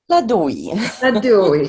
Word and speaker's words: Ladoui: And today we have a special guest with us, or how do you pronounce that? Ladui.